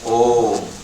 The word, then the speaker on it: Om: You can see here in the center, we pronounce that one as a Om.